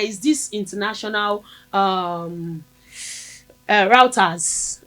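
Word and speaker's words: Reuters: There is this international um uh routers R E U T R S give me the correct pronunciation right routers.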